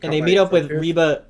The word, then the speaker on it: Reba: dad what happened and they meet up with Reba reeba McIntyre I said it right that time somebody